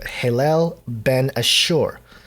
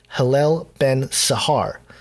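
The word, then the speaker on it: Helel ben Shahar: It actually translates to Hillel ben Ashur. Or sorry, I totally butchered that. Hillel ben Sahar.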